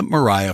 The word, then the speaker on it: Maria: the conquered fight Lydia Mariah Francis always hated the name Lydia so she went by her middle name which was spelled Maria but she pronounced it as Mariah she was the youngest